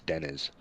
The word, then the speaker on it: Deniz: And Tuncer's his last name is Deniz, just an Denise. FYI. Oh, Yeah. I said Denise in so many videos now.